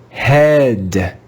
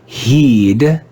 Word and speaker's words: head: with a different sound in this word the digraph e a is read with the short e sound let's read this word together head head head it's not heed it's not hey it's